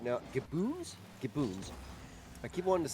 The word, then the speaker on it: Gaboons: Gaboons. I keep wanting to say Gibbons, but I know that's not how it's spelled.